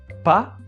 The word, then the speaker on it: pas: pronunciation of the word we don't pronounce letter s at the end it's it's not pass because it will it